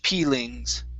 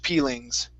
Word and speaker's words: peelings: this here so veg peelings so it's going to be a long e sound instead of pings it's peel veg peelings veeg peelings okay very